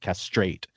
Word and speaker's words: castrate: They say that castrate, collate, cremate, curate, dictate, dilate, donate, fixate, frustrate are second syllable stress.